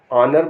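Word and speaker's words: honour: मैं बताने जा रहा हूं कि जिसमें एच साइलेंट होगा एच ओ एन ओ यू आर ऑनर माने इज्जत एच ओ यू आर आवर आवर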